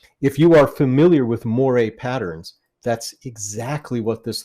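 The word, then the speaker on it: moiré: So the word is pronounced moire, not moire.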